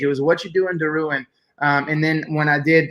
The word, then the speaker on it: Derouen: The proper way to say my name is Derouen, which is like French pronunciation.